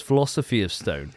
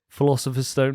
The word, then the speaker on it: Philosopher's Stone: It's like 2 years before Philosopher's Stone. Oh, I thought it was Philosophy of Stone. It's not, is it? Philosopher's Stone? Yeah, that makes more sense, doesn't it?